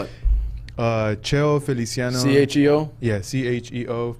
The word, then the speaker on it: Cheo Feliciano: So I listen to a whole bunch All of right, spell it. Cheo Feliciano. C-H-E-O? Yeah, C-H-E-O. Like Feliciano. Eliceo Gamino? Yeah, and Feliciano is Wait a minute. F-E-L-I. Cheo Feliciano.